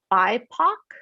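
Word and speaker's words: BIPOC: social movements in the us currently this is pronounced like bypak yeah and that stands for some of the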